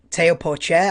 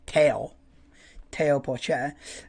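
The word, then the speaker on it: Théo Pourchaire: And then the other ones that I'm really interested to see how Teo Porcher, I think that's how you say his name, rather than Theo. I think you go for a French Teo Porcher.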